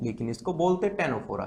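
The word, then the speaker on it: Ctenophora: में, टेनोफोरा, ठीक है, स्पेलिंग में सी आता है बट इसको बोलते टेनोफोरा है।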